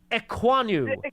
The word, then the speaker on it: Ekwonu: I thought he had well, can you help me pronounce the offensive tackle that you Oh, that would be Ike Ekwonu.